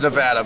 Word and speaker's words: Nevada: Kind of like how you pronounce Nevada as Nevada. Pretty much, and it's Nevada, by the way.